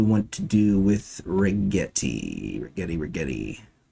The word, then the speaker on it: Rigetti: Rigetti. Rhymes with spaghetti.